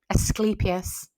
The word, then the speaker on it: Asclepius: Asclepius.